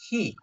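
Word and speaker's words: היא: Jadi ini makanya ini ada he hirik ini itu merujuk kepada instruksi pembacaan bahwa dia itu bacanya adalah he ya bukan hu.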